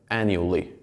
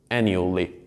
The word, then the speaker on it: annually: something that sounds like annually. Annually. In this case, it is like three syllables.